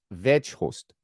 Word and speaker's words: Weghorst: uh Dutch go here the G in veor should be pronounced as CH H so it's Vost V Vost I'm trying trying I'm trying